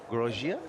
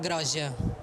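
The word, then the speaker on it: Groggia: Edgar Grogia? Yeah, Edgar Groja.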